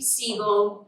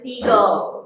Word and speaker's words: Siegel: is enter Mr Bugsy seagull and that is seagull not seagull as in the seafaring bird that steals your prize now regardless of pronunciation